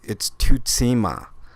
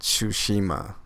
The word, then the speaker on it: Tsushima: The closest I can come to pronouncing it correctly, it's Tutsima, not Tsushima, as most people are calling it. It is, because Su is the syllable.